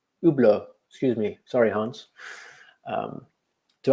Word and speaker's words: Hublot: Ur work is silent H. Hublot, excuse me.